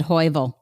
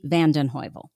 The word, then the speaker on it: Van den Heuvel: uh and then v-a-n-d-e-n-h-e-u v-e-l that's my last name vandenheuvel it's a long one i know so i did mispronounce it i think i said hoivil yeah no that'd be hovel it's it's hard i